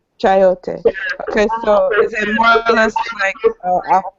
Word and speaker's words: chayote: You pronounce it chio? Chayote. Chayote.